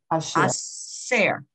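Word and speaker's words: עשה: Aser. Okay, right. It would be shin, a share, if it was on the right side, that dot, but it's aser.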